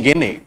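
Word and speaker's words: Gagné: और ये देने वाले हैं रॉबर्ट एम गेने, रॉबर्ट एम गेने, रॉबर्ट एम गेने, गेने। कई बार इनको हम गेगने भी पढ़ते हैं, एक्चुअली इनका नाम है GAZNE, गेगने। रॉबर्ट एम गेने, रॉबर्ट एम गेने।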